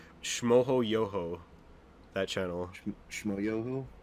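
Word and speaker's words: Schmoyoho: Shmoyoho? Shmoyoho, yeah. That's how you pronounce that.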